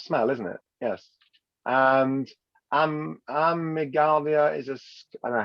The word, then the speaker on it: amygdala: And amygdala is I don't know how you pronounce it.